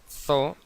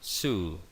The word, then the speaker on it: zoo: Por ejemplo, zoo no se dice zoo en inglés, sino zoo, zoo.